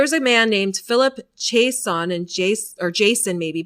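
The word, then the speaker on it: Jaisohn: So there was a man named Philip Jason and Jace or Jason maybe but it's spelled j a i s o h n.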